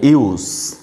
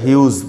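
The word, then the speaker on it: Hughes: टेट हिउस sometimes or often এটা উচ্চারণ করা হয় ইউস, ঠিক আছে। অনেকটা সাউন্ড এরকম ওয়াই ডাবল ও জেড এই টাইপের সাউন্ড হয়ে থাকে, অথবা আমরা হিউজ বলতে পারি, টেড হিউজ, Edward James Ted হিউজ his complete name.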